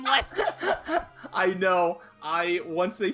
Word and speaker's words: Leicester: Yeah, it's Lester, but yeah. Lester? That is not how you spell the word know, Lester. I know. I played enough GTA 5 to know how to spell the name Lester.